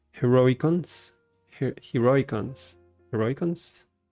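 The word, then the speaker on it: Heroicons: and by the way I learned that it's pronounced heroic cons heroic cons heroic cons not hero icons heroic cons I think yeah let's do this one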